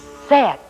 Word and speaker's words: said: last spy word is said i said i'd be there and said rhymes with ben and here they are